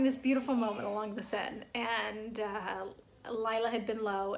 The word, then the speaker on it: Seine: And we had yesterday walking along the Seine River having this beautiful moment.